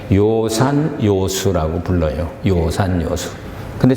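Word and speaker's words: 樂山樂水: 해서 그것은 빼낼 때 요산요수라고 불러요 요산요수 근데 써놓은 걸 보면 낙산낙서라 그래요 그래서이 중국 그 문헌을 모르는 사람들은 낙산악수 잘 읽지 하면은 틀리는 거예요 거기서는 요산 요소라고 읽어야 돼요 같은 글자예요 연설한다는 연설을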